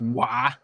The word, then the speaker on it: Roy: It's like how that last name where French people spelled Roy, R-O-Y, and it's pronounced Wah.